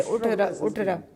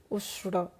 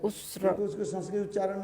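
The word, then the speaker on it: उष्ट्र: So the man told, Kalidas told, the Uttara. Actually in Sanskrit the word is Usha for camel. Ushra. In Sanskrit, camel is called Usra.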